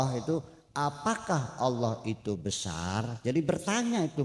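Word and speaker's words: الله: Jadi dibacanya Allah, bukan Allah, bukan Allo, tapi Allah.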